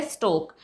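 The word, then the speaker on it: stalk: अगर के से पहले मैंने बता ही दिया, ये हो जाएगा स्टोक, FALK, नॉट फोल्क नहीं होता, फोक होता है, because L is silent here.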